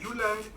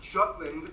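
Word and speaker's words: Jylland: we go denmark is made of the uland not jutland peninsula that connects to germany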